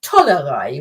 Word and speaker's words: Tollerei: spelled it wrong, because the proper word is actually Tollerei with a T. Okay. But it's been pronounced with a D so much that you can actually, or people use both.